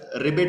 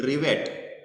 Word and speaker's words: rivet: Actually the spelling of that is RIVET, रिवेट. पण आपण म्हणत म्हणत म्हणत काय केलं, त्याचा रिबेट केला, ओके.